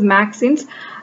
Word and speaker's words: MXenes: So this is pronounced as MAXINS, and this is a topic under materials science, a new invention under materials science.